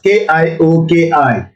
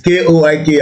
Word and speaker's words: Koiki: you spell it as Kioki, but I'm sure it should be K-I-K. I'm not Yoruba. If you got the people come mobile, they say it's Koiki, and you have a Miriam spell it, you know that. So maybe it's a mistake, it's a typo error, but it's not Kioki, it's Ko.